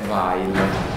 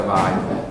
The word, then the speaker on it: Weil: è anche ambigua, perché dal punto di vista della pronuncia tedesca, e questo è un cognome di origine ebraica tedesca, si dovrebbe pronunciare Weil, e I si pronuncia Weil.